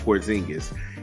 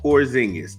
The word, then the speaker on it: Porzingis: If Kristaps Porzingis, the alleged, grape with a silent G, is the alleged sexual